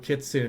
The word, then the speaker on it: kitsune: i am a kitsune she actually uses the correct pronunciation too uh kitsune is actually the way it's supposed to be pronounced if i recall right i'd just go with kit soon because it's a little bit it flows easier off of my tongue it's probably a bad